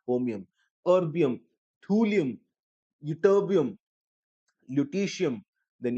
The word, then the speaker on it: holmium: Then you have promethium, samarium, europium, gadolinium, terbium, dysprosium, holmium, HOL, L is silent, holmium, erbium, thulium, ytterbium, lutetium.